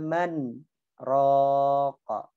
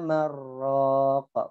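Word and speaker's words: من راق: Ya wa qila man raqa. Tidak boleh bacanya wa qila marraqa.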